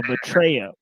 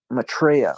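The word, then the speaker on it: Maitreya: known as uh uh Maitria. Is that how you say it? How did you say it again? Uh Matraa. Matraa. Okay. Okay. Matraa. There we go.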